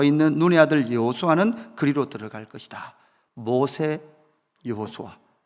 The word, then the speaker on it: 여호수아: 이 여호수아는 발음은 예수아입니다.